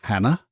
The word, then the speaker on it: Jana: Her name is Jana, but spelt with a J. She's Spanish.